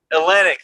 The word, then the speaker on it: Olynyk: Kelly Olynyk? Olynyk, thank you. Because I spell it in my head, and I'm like, I'm not going to say that right.